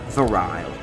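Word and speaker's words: virile: is turn off file verile file okay huh verile that's how you pronounce it huh so that varial Visage Bears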